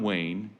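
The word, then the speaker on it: Wain: and we drink together john wayne yes that's actually his name but it's spelled w-a-i-n a student member of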